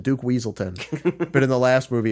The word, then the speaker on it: Weaselton: It was like they mispronounced him as Wesselton. It's like it's Weaselton, Duke Weaselton.